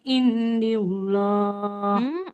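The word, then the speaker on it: الله: Qalat huwa min indillah. Enggak yang di Allah. Kalau lafadz Allah, huruf sebelumnya berharokat kasroh, dia nggak usah dibaca tebal.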